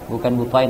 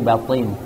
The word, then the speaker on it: batin: Haddatsana Abu Khaythamah, haddatsana Abu Muawiyah, haddatsana Al-A'mash an Muslim bukan ini ya, bacanya bukan butain tapi batin. Itu apa bacanya itu? Batin atau butain? Butain. Yang kata kami yang betul adalah batin.